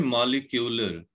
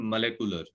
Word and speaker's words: molecular: बेटे वर्ड हम यूज करते हैं मॉलिक्यूलर. एक्चुअली इसकी जो प्रोनाउंसिएशन है इट इज देयर मोलेकुलर.